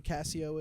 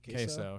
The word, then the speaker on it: Queso: Have you seen all the you know who Casio is, or is that Queso? Is that how you pronounce it? Queso, yeah.